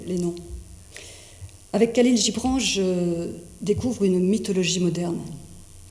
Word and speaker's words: Khalil Gibran: vous le connaissez tous Kalin Gibran je prononce à la française je prononce pas je prononce pas comme à la libanaise les noms avec Khalil Gibran je découvre une mythologie